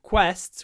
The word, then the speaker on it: quests: consists of various quests if you try to pronounce the word quests with your mouth closed quests you you might get a v open your mouth qu quests quests then there should be no problems quests qu qu qu